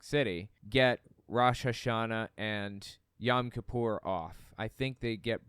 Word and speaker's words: Yom Kippur: And I understand the proper pronunciation is actually Yom Kippur. It just kind of depends on who you're talking to. If you're talking to somebody who has like a Yiddish accent, then they're probably going to pronounce it Yom Kippur.